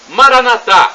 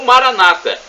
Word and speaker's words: Maranatha: do aramaico Eu Clamo Maranatha como dizemos nós católicos ou Maranata com a tônica na penúltima sílaba como dizem nossos irmãos separados os evangélicos ou protestantes não importa somos todos